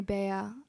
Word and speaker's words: Bea: it up so it's because my parents call me Bayer um everybody calls me but like if we're talking about Filipino times it's bear okay all right good